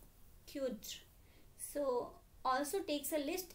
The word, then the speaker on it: cdr: So in CDR it to be pronounced is a qt.